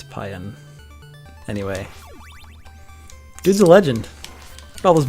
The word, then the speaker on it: Pyun: into talking about Hilbert Pyun which i think is how you're actually supposed to say his name yeah I say it pyoung too but I think it's pion anyway dudes a legend